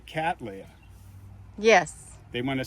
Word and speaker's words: Cattleya: So Cattleya. Cattleya. Hey, I got that right then. I've been saying it right. That's how you're supposed to say it.